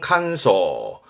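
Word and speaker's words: 乾燥: 발음은 칸소.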